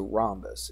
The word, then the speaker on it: rhombus: So rhombus, it's got an H in it. Don't know why, but that's how they spell it.